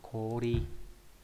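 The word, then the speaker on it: 氷: Băng đọc là kori. Kori nghĩa là băng tuyết, băng đá nhá. Còn khi ghép âm nó đọc là hyo, ví dụ trong từ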